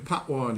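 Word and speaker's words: patois: look says he uh Jamaican pwi it's spelled p a t o i s not y I was to it is locally rendered pwor and called Jamaican Creole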